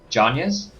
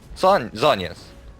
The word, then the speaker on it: Zhonya's: Well, it's ZH. Jonya's? Zhonya's. Jonya's. ZH. Jonya's. Why is that pronounced? Maybe it's because I live in Hong Kong, and maybe so. Chinese for Mandarin is Zhongguo. So it's like the same sort of ZH sound.